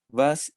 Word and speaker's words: was: it' que es más se escribe como was w a ese no pero de doble use pronunciar v entonces vas issste of leon básica